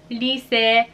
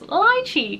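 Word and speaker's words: Lycée: I always thought it was lychee because I just read the English right, but it's actually Lyse, and it actually says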